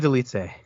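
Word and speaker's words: Dolidze: Roman, I'm not even sure how you pronounce his name. The guy that's now with Roman Delitse.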